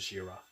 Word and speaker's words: ZRA: We can just say ZRA and pronounce it as Jira.